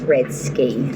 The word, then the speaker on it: Redske: Some people call me Red Skies. My name is pronounced Red Ski.